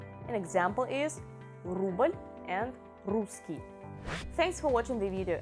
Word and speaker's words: русский: One more is русский. Promise I will never hear from you risky, even though yes, of course, I would agree that Russian is sort of risky, but no, please pronounce it correctly, alright?